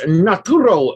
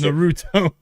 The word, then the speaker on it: Naruto: Samus, Naturo, The Rock, and more. Naruto, a document. Not Naturo. I've never watched it. Still, it's Naruto. It's spelled Naruto, not Naturo.